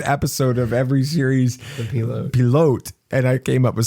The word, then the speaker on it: pilote: I said, it's a French word. And it's pronounced pilote.